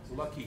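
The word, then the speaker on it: Luckie: His autobiography, the title of it is Miracle on Lucky Street. And Lucky is spelled L-U-C-K-I-E.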